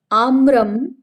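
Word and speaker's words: आम्रम्: आम्रम, आम्रे, आम्राणी। आम्र जब आप बोल देते हो तो वो शब्द होता है, ना कि वो एक वचन का शब्द होता है, वो गलत हो जाएगा।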